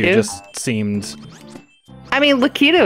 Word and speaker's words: Lakitu: Lakitu just seemed... I mean, Lakitu is technically not wrong. It's just you're putting the emphasis on the wrong syllable.